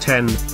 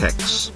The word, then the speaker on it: iPhone X: brand's new iPhone X that's pronounced 10 by the way not X is a phone of